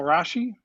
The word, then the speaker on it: Rasche: Up first is Kyle Rasche, rhymes with Kashi, and he's become a good friend and very talented songwriter from the Grand Rapids area.